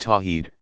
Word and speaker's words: tawhid: Affirming God's absolute oneness is called Tawhid, pronounced Tawheed, second.